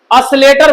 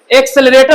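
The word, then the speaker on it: accelerator: कि असलेटर ज्यादा देंगे, असलेटर नहीं होता है, उसका शुद्ध प्रोनाउंसिएशन क्या होगा? प्योर एक्सेलरेटर होता है।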